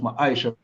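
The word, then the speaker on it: מעשר: Means tenth in the Hebrew and is pronounced ma'aisha.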